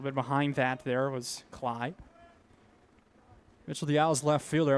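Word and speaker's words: Kley: His last name is not pronounced Clay. Kelly K L E Y is how it's spelled, but it's pronounced Cly.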